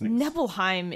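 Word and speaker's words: Nibelheim: ways to pronounce these neville Heim is definitely the way to pronounce it yeah because it's based on Norse yeah so but she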